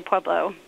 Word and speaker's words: Pueblo: there to answer the question we just say PUO when the Still Mill uh was really strong